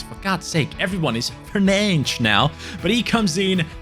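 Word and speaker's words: Fernandes: at a 73 rating I guess because he's Portuguese it would be pronounced like Bruno Fernand as well so fernan welcoming to the Team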